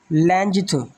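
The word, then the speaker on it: length: और इसी तरह जो हमारा अगला वर्ड है वो है ल इसको अगर लोग वैसे ही ओरिजिनल प्रोनाउंसिएशन जो है ना वो आप गौर से सुने वो है लैंजथ।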